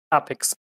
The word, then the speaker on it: APX: APX.